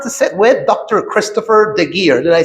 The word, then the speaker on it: Geer: Christopher Geer.